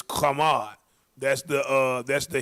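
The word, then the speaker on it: חָמַד: that yep right there that's good strongs definitions kamad that's how you pronounce it it's kamad that's the uh that's the Hebrew pron pronunciation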